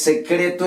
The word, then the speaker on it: secret: Entonces la E en inglés se pronuncia I. Entonces aquí ya tendríamos que en vez de decir se, vamos a decir sí. Vamos con la otra sílaba. La otra sílaba termina en consonante T. Entonces, por lo tanto, cuando termina en consonante, la vocal que la antecede va a sonar como suena en ¿qué? En español.